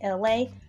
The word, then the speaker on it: ELAY: It's me, LA. Pronounced like LA, like the city.